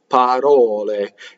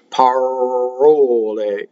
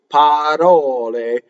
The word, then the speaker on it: parole: When an R touches a consonant, you will roll it, like that, right? Parole. The other mistake you can make with the R is to go to like in American English. Parole, right? That would be wrong. Parole. It's almost like saying a D with a single flip of your tongue very fast in English.